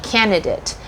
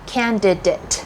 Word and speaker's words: candidate: said it wrong so the biggest misconception is that you want to say candidate but the proper word is actually candidate that has a d so candidate so there